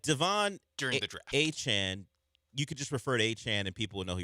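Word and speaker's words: Etienne: the general NFL public to not call him Etien anymore? Travis Achan. Cuz when people tweet about Travis Achan, they just will it's EN like three letters just ETN. Yeah. Just to shorten it. That's how it until today was pronounced.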